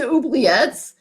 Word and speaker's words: oubliette: I mean, these oubliettes, that's how I know how to pronounce it. It's comes from the French word for forget.